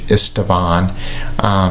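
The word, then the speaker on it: István: His name is actually pronounced in the local language Istvan.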